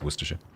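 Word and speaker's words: Worcestershire: And then the county that Worcester is in is Worership.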